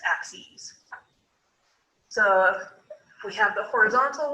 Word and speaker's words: axes: axes go ahead and write out how that's pronounced as well it's not axes it's axes so we have the horizontal one which is